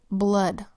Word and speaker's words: blood: just two base words double o makes a short u sound these words are blood and flood let's write blood on our paper put